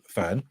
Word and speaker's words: Ffern: But the brand is, some of you have already guessed, the brand is Ffern, spelt with 2 Fs, but I'm assured that we pronounce it Ffern as opposed to Ffern.